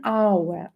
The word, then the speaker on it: hour: An hour, an hour.